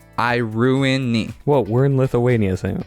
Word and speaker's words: Iruini: Biosector, the pronunciation is Iruni. So you don't pronounce that middle I like we would say in the US. Iruni.